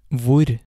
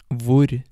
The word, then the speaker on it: hvor: want to note that most of these question words start with HV, and the H in these words is silent. So the first word is va. Va. This means what? Va. Vur. Vur.